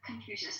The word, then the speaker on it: Confucius: Like confusion, like if I'm pronouncing it right, the Chinese philosophy, right? That Confucius. Confucius, thank you.